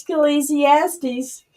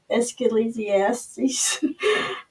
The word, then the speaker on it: Ecclesiastes: how you say it escalasiastes oh no it's Ecclesiastes is please yes please